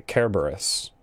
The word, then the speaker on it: Kerberos: Because in Greek, there is no soft C sound. It's always the hard one. So, Cerberus' name is actually Kerberos.